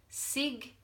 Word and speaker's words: signature: we have sign signature now listen to have that voice felt signature so this G is no longer silent so the point I'm